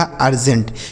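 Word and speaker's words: urgent: एन से आधा और टी से ट लिखा अर्जेंट। यानी अगर किसी भी शब्द के शुरू में यू लिखा होगा तो उसका उच्चारण अ हो जाएगा।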